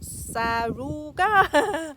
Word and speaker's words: Saruga: Anyway, so this variety is non-attrition, and let me show you how to pronounce the name, or to say the name, Saruga.